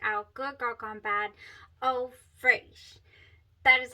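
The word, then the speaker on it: Eau Fraîche: going to check out Good Girl Gone Bad Eau Fraiche.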